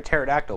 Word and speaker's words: pterodactyl: Why can't you hear a pterodactyl when he uses the bathroom? Because the P is silent.